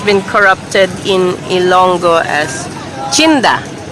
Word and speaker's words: chinda: corrupted in Ilonggo as chinda. not this taxi though. Chinda, as it is pronounced in Ilonggo, comes from the word tienda. In Ilonggo, it's pronounced chinda.